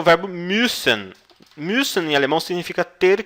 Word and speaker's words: müssen: E a pronúncia da letra U com os 2 pontos em cima, né? O U sorridente aqui, é mais ou menos com um biquinho, então você diz müssen.